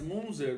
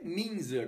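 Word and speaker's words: Münzer: que é sobre Andreas munzer mas eu acho que a pronúncia é minzer como Miller como ginter Killer Camp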